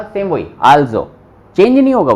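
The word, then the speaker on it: also: आल्जो। ठीक है, ये आ एल जोड़ गया इसके अंदर, आल जो, जो यहां पे पढ़ा था सेम वही आल्जो, चेंज नहीं होगा वो।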